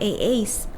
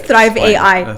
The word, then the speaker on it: Thrive AI: See, I told you I'll say AA behind the scenes, and I keep saying it wrong, but it is Thrive AI.